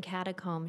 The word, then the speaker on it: catacomb: Speaking of which, tomb rhymes with womb, and catacomb should, but of course it does not.